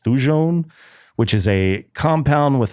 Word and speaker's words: thujone: Absinthe, a green spirit distilled from botanicals, most notably wormwood, which contains, I think it's pronounced thujone, which is a compound with hallucinogenic properties.